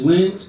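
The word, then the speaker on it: Lindt: to tip toop Tapas my name's lint the the D is silent you know like the chocolate and you know he's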